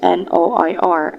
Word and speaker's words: noir: So the French word for block is spelled as Noir, and it is pronounced as noir.